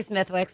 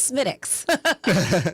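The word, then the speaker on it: Smithwick's: Just when people say Smithwicks, I go, "It's smitt.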